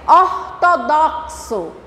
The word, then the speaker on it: ortodoxo: Olha a pronúncia. KS. Ortodoxo.